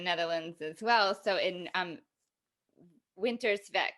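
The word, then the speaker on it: Winterswijk: as well so in winter spec is that how you say it winter spec winter's like vinter's mic okay so i i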